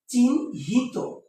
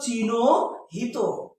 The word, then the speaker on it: চিহ্নিত: আমরা বলি চিহ্নিত চিহ্নিত দেখো এটার উচ্চারণ হচ্ছে এরকম চিহ্ন হিত ওকে দেখো এখানে আমি একটা হসন্ত দিয়েছি ন তে এখন যদি আমি ন তে হসন্ত না দিতাম তাহলে স্যার কি উচ্চারণ করতো দেখো স্যার উচ্চারণ করতো চিনো হিত কি অ আছে না